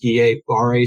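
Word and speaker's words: Guillain-Barré: to mispronounce this but i think it's pronounced ga bari syndrome which is essentially temporary or medium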